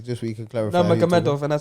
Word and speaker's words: Nurmagomedov: Nurmagomedov, and I said it right.